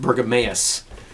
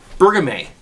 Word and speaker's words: Bergamot: I was actually told by one of my longtime viewers during my live broadcast, this is not pronounced Bergameus. It's called Bergamot.